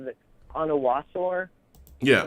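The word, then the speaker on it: Onwuasor: I've heard so many different pronunciations. Is it Onawasor? Yeah, Onawasor.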